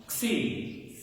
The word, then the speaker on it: Xi: Xi. Xi. It's like a K-S-E-E.